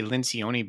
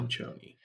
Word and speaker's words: Lincioni: We would say Lincioni, but the pronunciation guide says Linchoni. So Linchoni.